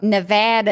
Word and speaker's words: Nevada: Why We are we saying learned Nevada Nev versus Nevada? Nevada is the way you're supposed to be Yes. pronunciating it.